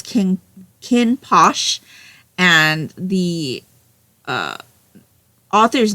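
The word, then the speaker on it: Kinn Porsche: So, if you looked at this cover, it looks like the title is King Porsche. But he definitely says it as Kinn Posh.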